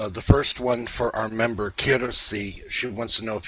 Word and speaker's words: Kirsi: The first one for our member, Kirsi. She wants to know if you have any messages for her. How do you spell that? You say it correctly. K-I-R-S-I.